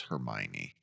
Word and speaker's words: Hermione: to hear what your brain said was Hermione.